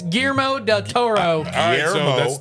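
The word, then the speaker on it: Guillermo del Toro: it white okay I'm done with you what GMO Del Toro is not wrong GMO what yep it's GMO Del Toro GMO Del Toro if you don't roll your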